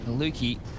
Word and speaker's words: maluki: up with the awp maluki rhymes with fluky let's have a couple